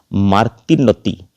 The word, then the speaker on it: Martinotti: italian italian word so your pronunciation should be in italian ascent so this is so this is marty noti martin of the cells